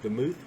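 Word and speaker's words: דמות: the move um uh it's pronounced the move uh and it means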